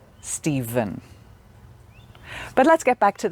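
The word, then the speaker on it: Stephen: exception is a name a boy's name steven which can be spelt with the letter v but can also be spelled with the letters p h but both have the sound steven steven but let's get back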